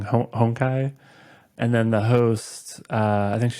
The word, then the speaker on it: Honkai: like how do you how do you pronounce this like is it Hong Kai is it honkai or and I just kind of read it like it's like a Japanese word so you'd pronounce it like honkai and the reason I